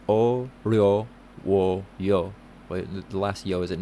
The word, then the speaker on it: 어려워요: The word difficult in Korean is literally difficult to say. It's pronounced 어려워요.